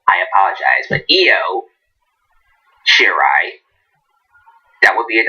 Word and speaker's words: Io: So my friend Ashton told me her name is pronounced Io, not Iho. I apologize, but Io Shirai.